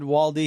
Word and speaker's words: Waldy: And today I have my friend Waldy here. Wald is how you say your last name, right? That's correct. Waldo with a Y.